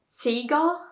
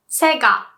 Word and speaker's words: Sega: And I heard people say Sega, but it's pronounced Sega.